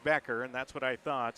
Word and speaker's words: Becker: I got to ask Patrick, is it Becker or Beecher? It's Becker, right? It is. Yep. So, they it looks like it would be pronounced Beecher with the CH, but it's pronounced Becker, and that's what I thought.